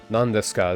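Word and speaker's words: ですか: need to remember that the U is silent when you're saying death you're just supposed to say death there's no U it's just death and then if you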